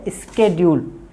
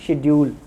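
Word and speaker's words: schedule: शेड्यूल, इसका correct जो pronounce है वो है स्केड्यूल, स्केड्यूल्स, मगर हम पढ़ते हैं शेड्यूल।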